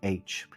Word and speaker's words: Popol Vuh: He is a Quiche Mayan, and he calls it the Popol Vuh. And it's how he pronounces the vu sound. And I do a little bit myself pronounce it vu.